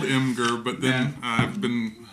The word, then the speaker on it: Imgur: it's spelled Imgur, but then I've been wrong about something else that I won't bring up. Imgur. Well, it's like imager.